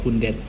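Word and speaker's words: hundert: 1000 pakai 1000 dan yang lucunya kalau 100 itu pakai hundet. Kalau dalam bahasa Inggris kan 100. Kalau ini ya bacanya ya agak sebenarnya enak ini. Hundet. Hundet itu kayak sesuai dengan tulisannya hundet.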